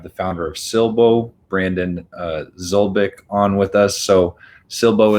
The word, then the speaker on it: Szulik: So did I pronounce the last name right? Close enough, Szulik. Szulik, sorry.